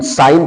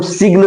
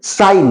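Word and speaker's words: sign: जैसे यस आई जी यन, तो इसको हम यस आई एन साइन पढ़ते हैं, जी का कोई उच्चारण नहीं किया जाता है। इसको हम सिग्न नहीं बोलेंगे, साइग्न नहीं बोलेंगे, इसको हम साइन बोलेंगे।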